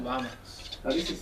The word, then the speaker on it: vamos: And what you probably hear there is a B. It really depends where you are. In the southern cone around Argentina and Chile, we hear a lot more V kind of pronunciation in many places. Generally in the Spanish-speaking world, it's like a soft B.